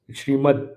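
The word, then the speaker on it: श्रीमद्: Srimad, Da is half. Not to be pronounced as full.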